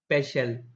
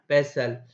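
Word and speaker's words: pestle: And grind it with the help of पेशल। With the help of पेशल। क्या बेटा? पेसल। T silent होता है।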